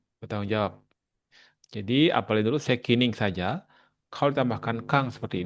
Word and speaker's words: 責任: Sekining ya. Sekining ga. 責、お母さんは責任があるから厳しいと思いますね。うん。えーっと、うん。kita pakai 責任。うん。はい、責任ね。これじゃないと思うけどな、漢字。ちょっと待ってね。漢字が違うと。そうだね。責任。これが責任という呼びますね。責任bacanya itu kanjinya. Terus itu bacanya sekining.